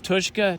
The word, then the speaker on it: Tushka: You properly pronounce Tuska. Tuska, yes. It's Tushka, Tuska.